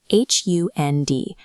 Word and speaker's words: Hund: Take the German word for dog, H-U-N-D. Because the D is at the very end of the word, it sharpens into a T.